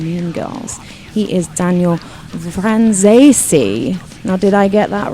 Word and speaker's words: Franzese: friend Daman in meon girls he is Daniel vesi now did I get that right yes okay we're all good then on the pronunciation there's also some other dude here called